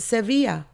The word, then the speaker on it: Sevilla: about the fact that we call it Sevilla, porque así se dice. That's how you say it.